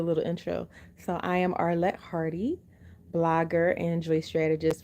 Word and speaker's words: Arlett: hey Danielle oh she you said you can't pronounce my name my name is Arlette Arlette thank you for asking um so I